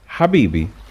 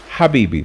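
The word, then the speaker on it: حبيبي: famous arabic words is habibi habibi starts with ha habibi means my lover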